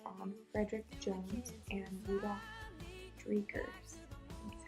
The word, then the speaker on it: Dreikurs: I am medium high control, focused on Frederick Jones and Rudolf Dreikurs.